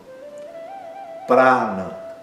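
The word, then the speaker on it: प्राण: O primeiro a é aberto e longo para e não é pr, é pra na segundo a é curto.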